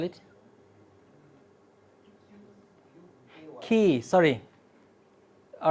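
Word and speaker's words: Quay: How do you spell it? QAY. Key, sorry.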